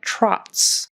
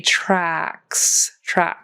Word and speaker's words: tracks: It sounded a little bit like trots, like a horse trots, if it were spelled TROTS, but it needs to be tracks. And that your mouth goes wide to make that short A sound, tracks with a K on the end.